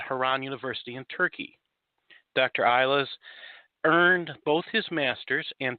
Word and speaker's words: Yayla: Is that the correct pronunciation of your name? Thank you very much, my friend. It is Yayla.